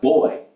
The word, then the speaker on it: buoy: I'm going to say it's pronounced boy not boy Bo okay think of the word buoyancy something is more